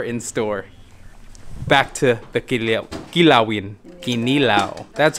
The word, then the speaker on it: Kinilaw: back to the Kinilawin.